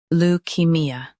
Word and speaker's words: leukaemia: Lou. Key. Me. A. Leukemia. Emphasize key and soften me.